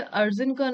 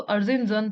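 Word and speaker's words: Erzincan: हिंदी में इसे अर्जिनकन है, लेकिन मैंने इसका इंग्लिश प्रोनाउंसिएशन चेक किया था, सो अर्जिनजन था, अर्जिनजन।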